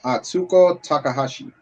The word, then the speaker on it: Atsuko Takahashi: My brother just wanted to say her name is Atsuko Takahashi. Thank you. Atsuko Takahashi.